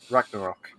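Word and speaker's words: Ragnarök: the highly anticipated god of war uh iraq ragnarok that's how you pronounce it uh the service is said to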